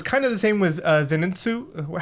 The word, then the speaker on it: Zenitsu: And so I feel like it was kind of the same with Zeninsu. How am I saying it right? Yep. Zenitu. Zenitsu, right?